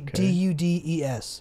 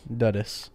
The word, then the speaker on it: dudes: word says dudes yeah duddis duddus right if you pronounce it hard but the e jumps over the d and tells the u to say its name do so you say